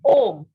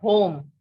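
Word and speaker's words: homme: And one example is om, not home. Just remember that in French, the sound of H is silent. Okay. So it is om.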